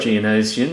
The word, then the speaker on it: Geonosian: Geonosian, yes.